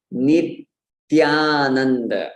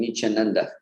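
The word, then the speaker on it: नित्यानन्द: We have to be able to see the tongue in between our teeth when we say it. So Nityananda. We can even exaggerate it just to make it right in case you're facing that, in case you were saying Nichananda.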